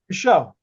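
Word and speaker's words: Micheaux: So how do you say Oscar Mchugh Mako? I don't know how to Michelle.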